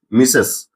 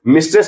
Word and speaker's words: Mrs.: मिसेस तो यहां हम लोग देखेंगे कि इसे कहां यूज़ करना है? इसे हम लोग मिस्टेस ना पढ़ के हम लोग इसे पढ़ते हैं मिसेस। इसका प्रोनाउंसिएशन क्या है? मिसेस।